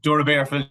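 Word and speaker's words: Doora Barefield: Clare club called, correct me if I'm wrong pronouncing this now, St. Joseph's Dura Bearfields. I think it's the name of it. Dura Bearfields, yeah.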